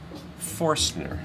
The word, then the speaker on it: Forstner: This is what's called a, how do you pronounce that? Forstner bit.